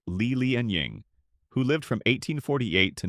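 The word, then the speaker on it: Li Lianying: Fast forwarding to the very end of the imperial era during the lateqing dynasty we encounter another highly influential unicelian pronounced Leel and Ying who lived from 1848 to 1911.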